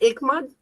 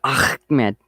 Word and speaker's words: Ahmed: Isn't it Ikmad? No. No. Ahmed, the Ahmed. Ahmed, yes. I was like so confused with you guys. I think it's the Jeff Dunham comment. Yeah. Ahmed. You got to say it right though. It's Ahmed. Yeah.